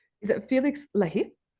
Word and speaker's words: Lahiff: Is it Felix Leah? It is. Yeah. Well, yeah, that's perfect. Yeah, that's a good pronunciation there.